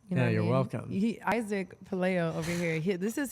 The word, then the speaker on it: Pelayo: I say the the Spanish pronunciation is Pelayo, but I think, you know, I grew up, um, you know, in a lot of Caucasian schools and so a lot of people refer, you know, they would pronounce it Pelayo, which is fine, too.